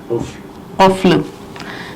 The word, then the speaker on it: قفل: اس کا تلفظ قفل. دیکھیے قاف فے اور لام، قفل یعنی تالا.